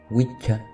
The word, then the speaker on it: wicca: del inglés antiguo donde wika pronunciado wia era el término que